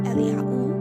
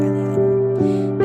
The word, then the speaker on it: Eliyahu: So, this name, Elijah or Eliyahu, because there was no J in the original alphabet. J comes from the Greek letters, and that would have been a Y. Eliyahu or Eliyahu.